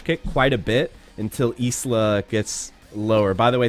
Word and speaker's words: Isla: correcting my pronunciation on isla uh it's not like the island by scotland it's isla it's isla because uh she's latin american oh that was wrong